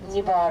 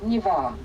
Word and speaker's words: Neva: We're driving up the flow of the Niva River. So we pronounce the name of the main river Niva.